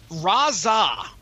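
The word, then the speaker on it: Rahzzah: Mike Colter and the drama cage yeah yeah razza ra h z za h is the name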